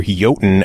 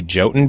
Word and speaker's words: Jotun: Lotus Games, talking about their brand new release, Jotun, or Jotun as it's properly pronounced, but they prefer to say Jotun because if you said Jotun, no one would